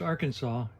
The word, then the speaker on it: Arkansas: 21 and I'm in Conway Arkansas which is pronounced Arkansas even though it's written AR Kanas I've never